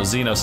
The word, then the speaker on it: Zenos: was pronouncing that crew i wasn't sure if it was xenos or zenos so xenos is the correct pronunciation oh you are a